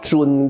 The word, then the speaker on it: 屯: 经的人都叫它叫尊卦，知物恩尊卦啊，有卷舌的尊哈。但是呢，我个人觉得你念成屯卦也没什么不对啊。